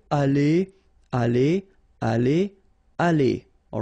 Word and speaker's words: allé: The good news is that phonetically they go the same way, aller, aller, aller, aller, all right?